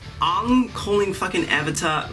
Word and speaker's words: Aang: I feel like Aang calling fucking Avatar like Aang is not the right pronunciation.